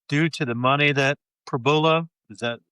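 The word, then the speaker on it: Pribula: I just wondering if it's due to the money that Prabula, is that how you say it? Prabula, yes.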